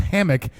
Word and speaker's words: Hamehk: Now it's spelled Hamehk. But I think what he told me back when we did the Buffett tribute was that his name is pronounced Hammock.